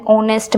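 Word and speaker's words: honest: कुछ H word होते हैं। मतलब जिसमें कुछ ऐसे वर्ड होते हैं जिसमें जो एच होता है वर्ड वो साइलेंट देखने को मिलता है। वहां [नाक से की जाने वाली आवाज़] पर हम एन का यूज़ करते हैं। जैसे एन ऑनेस्ट मैन एन आर N here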